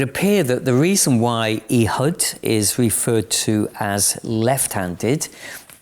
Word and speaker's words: Ehud: His name is Ehud, or probably Ehud would be more of a correct pronunciation.